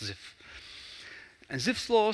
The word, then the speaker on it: Zipf: The P is silent, it's just Zipf.